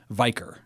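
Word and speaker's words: Vikre: I'm pronouncing that right VI KR e biker with that sound right like Viking getting me out of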